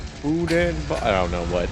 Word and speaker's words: boudin: It says, do y'all like Bowden balls? Pronounced Boudin.